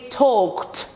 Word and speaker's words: talked: Talked. Avec le ED qui se prononce kt.